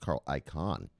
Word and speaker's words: Carl Icahn: I think his name is pronounced Carl Icahn.